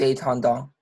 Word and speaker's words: entendons: Oui, est-ce que vous pouvez faire une petite liaison, s'il vous plaît? Nous entendons. Nous entendons. Oui, et faites attention, c'est vraiment un « en », nous en, nous entendons.